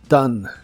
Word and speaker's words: done: pasado participio es done la o se pronuncia como a y la e del final es muda done done es equivalente a